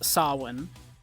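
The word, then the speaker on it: Samhain: look at that and you go oh Sam Hayne but no it's uh yeah my understanding is the iation is sa but yeah it is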